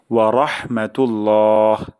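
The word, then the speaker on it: وَرَحْمَةُ اللهِ: এবং আল্লাহর রহমত বর্ষিত হোক তাহলে এটা আরেকবার উচ্চারণ করছি আসসালামু আলাইকুম আপনাদের উপর শান্তি বর্ষিত হোক ওয়া রাহমাতুল্লাহ এবং আল্লাহর রহমত বর্ষিত হোক আসসালামু আলাইকুম ওয়া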